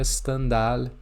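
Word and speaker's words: Stendhal: um nome alemão e Eu verifiquei aqui chequei e se pronuncia standar mesmo em francês este livro foi uma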